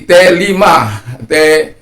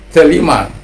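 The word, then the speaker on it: θέλημα: Satu contoh lagi, telema, jadi telima, kehendak.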